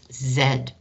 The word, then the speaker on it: Z: base c of z in europe that's pronounced zen and i've had lots of math teachers who use zed but i refuse it's too